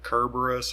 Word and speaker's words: Cerberus: was Dante's version of Cerberus we can pronounce it Kerberos I think perhaps the original Greek was Kerberos I grew up with it being called Cerberus so I'm it's gonna default to that so first the original